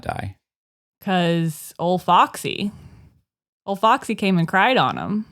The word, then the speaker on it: Fawkes: Fox. Like Guy Fawkes.